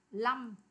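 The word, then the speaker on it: lăm: là Lâm đúng không Thì chỗ này chỗ này người ta thường đọc là Lâm chứ không phải là năm ví dụ 25ha Lâm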